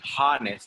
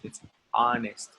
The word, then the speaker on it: honest: honest remember the age in honest is not pronounced don't say harness its honest impulsive jealous Nigella's jealous realistic sensitive and sympathetic